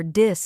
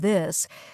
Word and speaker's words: this: Yes, many learners say tink instead of think or dis instead of this, but here's a simple